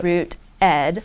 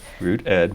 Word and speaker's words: RootEd: a capital E, and I like to pronounce it Rooted. People pronounce it in Root Ed or Rooted, but I like Rooted because the reason we chose the name is it's this sense of being rooted in your neighborhood, planting roots where you